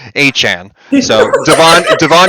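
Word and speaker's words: Achane: starting guys like Zach moss and uh Devon a chain what's his what how do you pronounce his name and Han like listen it's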